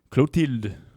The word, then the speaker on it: Clotilde: Clotilde.